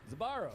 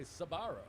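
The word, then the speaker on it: Sbarro: front of each other how do you say that sparrow zabarro that took me eight years to learn yeah some people say sabaro yeah that's not right i don't like those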